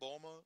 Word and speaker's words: Bulma: Bulma. Yeah. Bulma? Okay. Bulma. What about the Beerus? Beerus. Okay. Right. All right. So, Vegeta. Yep. Just think Goku, of Vegeta, yeah. Bulma, and Beerus.